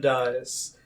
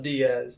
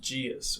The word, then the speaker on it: Dias: Instagram, Coach M Dias, not Diaz, Dias with an S. But it's spelled like Diaz. It's spelled D-I-A-S. Interesting enough, because the name is Portuguese, so actually in Portugal they actually pronounce it Dias with like a J.